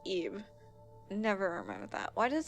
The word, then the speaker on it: Ib: Or Ib, or yeah, it's supposed to be pronounced Ib.